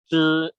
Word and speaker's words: 知: bantu saya baca kalau ZHI bacanya gimana? 知 Ya, ya, karena dari lao shi kalau ZHE